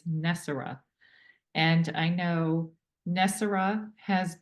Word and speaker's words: NESARA: as you have tell told me the correct pronunciation is not nisara it's nessar and I know nessar has been a folklore